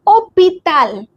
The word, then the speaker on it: hôpital: H is mute everywhere. This is hôpital.